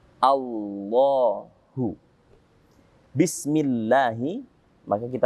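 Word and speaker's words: الله: Maka Allah dibaca tipis. Millahi. Beda dengan kalimat Allah yang didahului dengan fathah atau a, maka kalimat Allahnya menjadi tebal. Menjadi Allahu.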